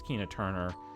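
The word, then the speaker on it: Keena Turner: we're already 88 Minutes Kina Turner rhymes with Tina Turner What's Love Got to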